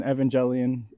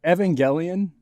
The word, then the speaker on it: Evangelion: and battler gets an evangelion style congratulations am i saying it right evangelion evangelion i've heard it uh said either way evangelion cause like angel right evangelion but evangelion i